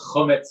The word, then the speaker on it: Chumetz: If you want to follow me in that, it's called Chumetz NYC. I went for the Yiddish pronunciation, close to the modern Hebrew pronunciation, and I post lots of pictures of the pickles and the sourdough I make.